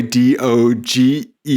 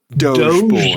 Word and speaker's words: Doge: We have Dodge Boy, D-O-G-E. I believe it's pronounced Doge Boy.